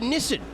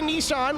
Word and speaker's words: Nissan: What the is a Nissen? What is that? That's a bowl of noodles. Nobody says that. Other than the English and Australians. I thought I thought, "Oh, that's how the Japanese pronounce it." No, no, no. They say Nissan like everybody else.